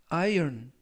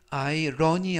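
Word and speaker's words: iron: 중이다 라는 표현이 되겠습니다 이번 표현은 아이온 아이온 iol 이라고 발음 하시면 되겠고요 이때 아이러니 아니라 아이온 이라고 발음 하시면 되겠습니다 품사는 명사 뜻은 철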